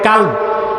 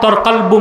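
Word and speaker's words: قلب: অনেকে ভুলে বলে কাল। কাল মানে কুত্তা।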